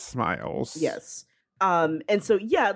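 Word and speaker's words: smials: I you pronounce them sme. Smeals, I think. Yeah, but it's smiles.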